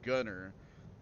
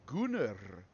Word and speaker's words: Gunnar: it's spelled and pronounced gunner but because of like Nordic or Slavic pronunciation it's Gunnar and I feel like that was 100% done maliciously and on purpose.